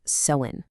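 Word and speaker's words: Samhain: And by the way, it's pronounced sewin.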